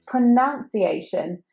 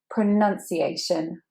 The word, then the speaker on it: pronunciation: as the verb, but actually instead of an ow sound, we have a pronunciation. It's pretty important to say the word pronunciation correctly.